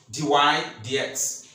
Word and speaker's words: dy/dx: DX that is divided X that's how we pronounce it d y d x is equal to n and the proof has